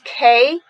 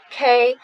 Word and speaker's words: Quai: In Hong Kong, draw inspiration from Bordeaux, and this is pronounced as K. In France, there we don't pronounce the last consonant. So Bordeaux, K.